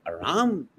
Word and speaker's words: Ram: which is not true you see Rama is wrong is not Rama is Ram I don't know how